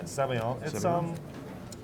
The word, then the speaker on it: sabayon: What is, can you describe to me, it says PECI, it's brown butter sabayon, is that the correct pronunciation? Yeah, sabayon.